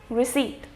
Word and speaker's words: receipt: and the last is received not received receipt these words without B